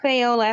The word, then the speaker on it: Fayola: At the bottom, Fayola. But okay, hold on. Let me see. Hold on. Because I have to come out of. What's your name? Just tell me your name. Oh, Fayola.